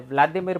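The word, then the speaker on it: Володимир: हैं जिनका नाम है व्लादिमीर पुतिन। दोनों के नाम का मतलब सेम ही होता है। रशियन भाषा में इनका नाम व्लादिमीर है, यूक्रेनियन भाषा में इनका प्रोनाउंसिएशन, व्लादिमीर का प्रोनाउंसिएशन होता है वोलोदिमीर।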